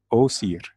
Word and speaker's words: Osiris: call him this day the ancient Egyptian way to say his name is was here o seer and Isis is a